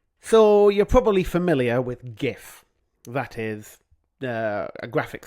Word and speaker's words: GIF: It stands for graphics interchange format and the word graphics begins with a hard G, a guh.